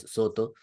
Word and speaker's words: Soto: Fru Jing era precisamente la escuela Soto, pronunciado de japonés Soto, que entonces llega por